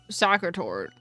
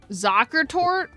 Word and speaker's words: Zuckertort: I've been saying soccer tort. Technically, that's correct if you're an American. I'm offended. Technically, only people from the US say sacre tort. Wait, then what's the actual pronunciation? The non-American one? Because of course Americans ruined it. Zuckertort? The S is pronounced like a Z? Yes, because in German the S's are... soft S's sound like Z's.